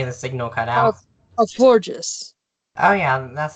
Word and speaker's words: Florges: Florges.